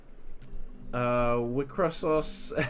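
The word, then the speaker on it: WIXOSS: I know it's pronounced Wicross. I just like to call it Wicrossos because the cross is meant to be cross, but then there's still os after the cross.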